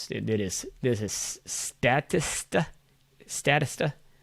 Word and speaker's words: Statista: is this is statista statista i believe is how you pronounce it s-t-a-t-i-s-t-a so so this